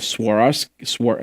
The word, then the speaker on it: Swarovski: comes from Isaac Mazari in the form of Swarovski how do you say that Swarovski yeah swarovski